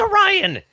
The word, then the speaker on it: Orion: you know it's like I even pronounce it oron or something oh that yeah that would yeah that would he just keeps saying Oriana and she's like it's Orion it'll be really cool